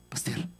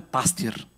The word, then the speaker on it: пастир: казва: аз съм добрия пастир. Ние, евангелските вярващи, обичаме да казваме пастир. Но аз нарочно казвам пастир, първо, защото това е правилното ударение на тази дума в български език, и второ, защото там